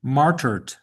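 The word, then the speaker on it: martyred: So, it's martyrd. Marty. Yeah. Mart martyed. You like it's the sound is a lot simpler than the spelling. Um, it's almost like it's m a r uh t er d.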